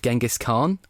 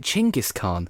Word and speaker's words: Genghis Khan: And I'm hoping you've heard of Genghis Khan. Or is it Chingish Khan? I think that's probably how we meant to pronounce it.